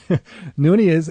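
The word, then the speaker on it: Nonie: But uh Nun is is uh you're military uh retired.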